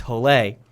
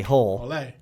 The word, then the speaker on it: Hole: name in norway and it's pronounced holley even though when i'm reading it i say whole and uh he's basically